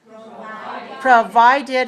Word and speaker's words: provided: hear you say provided provided has three syllables and it's dressed on the second provided okay and vitamin